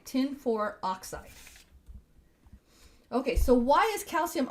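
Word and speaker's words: tin(IV) oxide: you say this well it's tin no parent no space for oxide tin for oxide okay so why is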